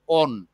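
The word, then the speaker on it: -one: যদিও এটা ওয়ান ONA, কিন্তু আমরা আর ওয়ান উচ্চারণ করব না, আমরা উচ্চারণ করি ওন। বাংলা হলো ও দন্ত না, ওন। বুঝতে পেরেছ? মানে স্যার বুঝছি। এখানে লেখা আছে ONE, মানে আমরা যে লিখি 1 2 3 4 সে ওয়ান, কিন্তু এটাকে আমরা বাংলায় আমরা উচ্চারণ করব ওন।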